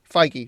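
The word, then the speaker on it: Feige: Kevin F in there how do we pronounce his name f figy so I was right you got Kevin fig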